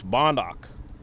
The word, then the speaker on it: Bondock: It's Bondock. So giving it the wrong way initially and now we have a correction. Bonduk tough play off of